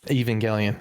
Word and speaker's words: Evangelion: Is that how you pronounce it? Evangelion? Evangelion.